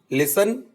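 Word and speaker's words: listen: विसल से हमने बनाया लिसन एंड ओफन, इसमें टी साइलेंट है।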